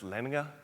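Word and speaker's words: Lendager: they will this is the lender Group which is actually pronounced lener from Denmark and they're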